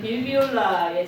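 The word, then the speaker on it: Bill Viola: 그리고 지난주 마지막에 제가 보여드린 건 현대 미디어 아트, 현대미술에서 거장에 속하는 빌비올라의 작품, 빌바이올라라고도 발음하는데요.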